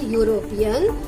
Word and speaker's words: European: Because when we pronounce the word European, the sound of a consonant Y is coming.